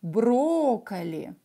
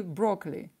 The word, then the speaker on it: брокколи: молодец supernova цвета брокколи мы произносим это так брокколи ну по-английски и брок ли до по-русски брокколи очень хорошо endur'd дату или ндс т.д.